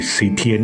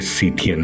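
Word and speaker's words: Scythian: अगर आप पढ़ोगे तो शक को सिथिन क्या कहू सिथ सिथिन ही कहेंगे क्योंकि स्पेलिंग देखो आप एस सी वाई टी एच ई आई ए एन सिथिन अंग्रेजी उच्चार का झोल अवर्णनीय है अब इसके बारे में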